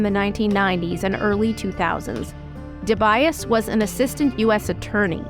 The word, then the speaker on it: DeBias: Can you just say your name just so we have the correct pronunciation? Sure, it's Tad DeBias.